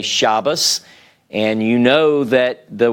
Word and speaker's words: Shabbos: when they say Shabbos, whenever they say Shabbos, they are, I learned this not long ago actually, they are making a distinction whenever the Dagesh is not present in the Tav. So what they would do is whenever they see a Tav, some Orthodox, they will use the S sound to distinguish this from the tav with the Dagesh in it.